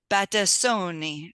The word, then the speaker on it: Battistoni: Rob from Sint and today I have batoni did I say that right you you did